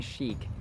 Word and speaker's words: chic: the entire family salubrious this word resembles chick chick chick where ch is pronounced as ch as in sh sh sh but this word is chic chic sh and then long e chic chic yada yada Joseph and